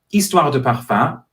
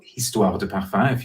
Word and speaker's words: Histoires De Parfums: It is Histoires De Parfums, or Histoires De Parfums, if you're not pronouncing the word correctly with the silent H at the beginning, set up 20 years ago by Gerald Ghislain.